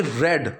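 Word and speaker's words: read: के आश्रम में आई रेड, अब ये रीड की फॉर्म चेंज है, स्पेलिंग सेम है, प्रोनाउंसिएशन अलग रहेगी। आई रेड एंड स्टडीड, मैंने पढ़ाई की और जाना उन चीज़ों को।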